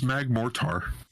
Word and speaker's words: Magmortar: I thought it was Magmortar. It's like mortar. It's a mortar. I thought it was Mortar.